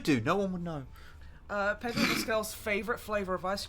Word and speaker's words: Pedro: Padro Pascal fact. The fact is, I said his name wrong.